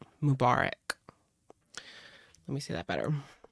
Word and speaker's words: Mubarak: fairs in San Francisco Mubarak yeah that's how you say it Mubarak let me see that